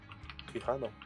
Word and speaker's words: Quijano: Quijano, yeah. That's a J, not a H.